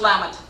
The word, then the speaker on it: Lamont: It's pronounced Lamont.